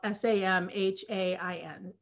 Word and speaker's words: Samhain: It related to the pagan holiday Samhain, which is spelled S-A-M-H-A-I-N, but it's pronounced Samhain.